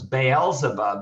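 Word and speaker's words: Baal Zebub: for its god uh baal so it was baal zabob is actually the proper pronunciation the storm god uh the canaanite deity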